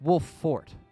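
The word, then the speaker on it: Wolffort: the f is doubled if the F wasn't doubled I'd say it's like wool fort but no it's wolf fort with the the double f in it which is just a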